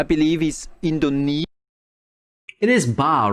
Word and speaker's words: Ba: it is ba right it is ba he's freaking out that he says paw every time it clearly is a b it's elite battle right do you pronounce a b like a p no because anybody would